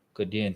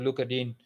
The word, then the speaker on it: Digne: Luca Digne, he's given me so many problems as a commentator.